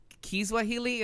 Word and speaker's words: Kiswahili: So Amina is telling us that it's not Swahili, it's Kiswahili, as I'm assuming.